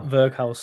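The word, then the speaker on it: Weghorst: Verkhaus. That's how I've been told to pronounce it.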